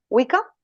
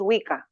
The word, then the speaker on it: Wicca: las que empecé fueron más bien la wika se escribe W I cca vale wika y bien la WIC es es una religión